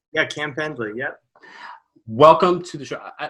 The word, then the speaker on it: Cam Pendley: Yeah, Cam Pendley, yep.